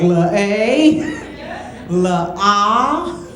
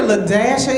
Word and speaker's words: La-a: pronounce this name and the name was spelled La hyphen a I was like La a la a she said no it's l dashia when you get a lashia in your classroom there's